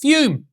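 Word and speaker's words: Fūm: we're talking about fume it's spelled Fu M and pronounced fume which makes no sense anyway not everything in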